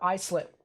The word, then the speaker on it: Islip: uh new york how will they fare or islip i'm sorry what about islip thank you for actually doing the pronunciation at the end because now i actually